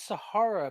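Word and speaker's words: Sara: My my name is Sahara, but in Elvin it's spelled S A R A because elves, I guess, uh don't believe in putting extra letters in like the Telane people do and saying they're silent.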